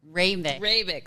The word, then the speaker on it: Hrabik: I asked you how to pronounce her last name. Hrabik.